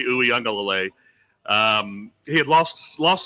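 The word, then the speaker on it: Uiagalelei: DJ UE unclelay where nobody can say his last name but that's how you say it DJ uelay um he had lost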